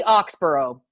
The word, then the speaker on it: Oxborrow: So how do I pronounce last name? It's Oxborrow.